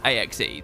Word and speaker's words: axe: The E on axe is silent. We don't say aches.